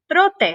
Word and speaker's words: trote: And how many sounds does the word trote have? ¿Cuántos sonidos tiene la palabra trote? It has two sounds. Tiene dos sonidos. Pie tiene una sílaba. Pie has one syllable. Y trote tiene dos sílabas. Trote has two syllables.